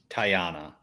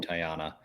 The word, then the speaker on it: Tiana: pick I think I am gonna choose now tyana from pronouncing it right Tiana I re reason I mean she's you know